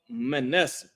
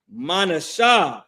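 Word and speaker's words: Manasseh: The tribe next up is the tribe of Manessa. Manasha is how you pronounce that in Hebrew. This is the uh pronunciation of their name.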